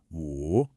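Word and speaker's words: 五: This is pronounced wu. Now, this tone is what we call a falling, then rising tone.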